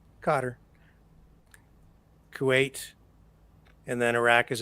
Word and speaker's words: Qatar: So during the Iraq War, a lot of journalists stationed in Qatar, or Qatar, if you want to pronounce it that way, I'd call it Qatar.